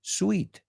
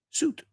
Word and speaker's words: suit: No sabes las veces que he oído sweet. Sweet. Imagínate la palabra sin la I. Suit.